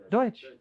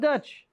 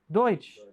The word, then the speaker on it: Deutsch: Deutsch. Not Dutch. Deutsch. It's D-E-U. It's different from Dutch.